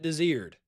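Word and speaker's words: Desiard: It's spelled Diziard. You pronounce it Desired.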